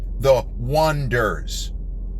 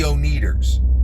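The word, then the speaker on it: Oneders: called The Wonders, but they spell it O-N-E, then there's a hyphen, D-E-R-S. The Wonders. Because reasons, they call it The Wonders. But not surprisingly, everybody looks at the word and they say the Oneaters. And is a running gag, which gets a laugh every time in this film, that it is mispronounced the Oneaters.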